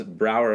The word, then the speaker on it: Brauerei: are going to be delivering the term brewery as broward I as the Germans recruited pronounce it yes in Auriga is